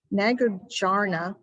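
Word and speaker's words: Nagarjuna: there he talks about a philosopher if i pronounce it right nagojana n-a-g-a-r-j-u-n-a and he he asked before something was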